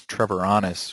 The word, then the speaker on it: Treviranus: My last name is Trevoranis, which is very, very difficult to pronounce, so I usually do care a lot